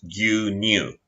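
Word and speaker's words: 牛乳: Milk uses ushi, but in this instance pronounced gyu, so milk is gyu-nyu.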